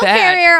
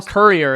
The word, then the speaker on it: courier: a male delivering service why do you say it like that cuz that's what how it said Courier it's not it's not carrier carrier no that's not different word a courier carrier Courier a courier male Courier premium